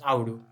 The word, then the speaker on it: Audu: 5,000 years ago, and the symbol zero is pronounced Audu in the Indus language and means goat.